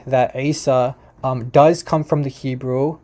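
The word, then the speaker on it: عيسى: Isa is with the Ain.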